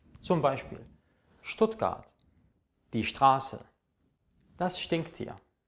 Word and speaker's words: Stuttgart: S und T zusammen wird in über 90% der Fälle in der deutschen Sprache als Scht ausgesprochen. Das heißt, im Deutschen habt ihr nicht SCHT, es reicht ST. Und das ist dann Scht.